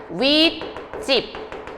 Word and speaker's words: 윗집: 반면에 자 윗집, 아랫집이라고 할 땐 어때요? 윗집, 아랫집, 찝찝찝 하고 뒷말이 예사소리가 뭐로 발음돼요? 된 소리로 발음이 되죠.